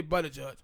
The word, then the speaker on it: Buttigieg: Yeah, Buttigieg.